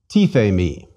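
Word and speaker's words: τίθημι: Again, three vowels, three syllables. Did you say E for the iotas? One more time. Tithemi.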